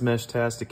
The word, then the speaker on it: Meshtastic: question so what is mesh tastic anyways I say it like this think walkie texy instead of walkie-talkie these are just small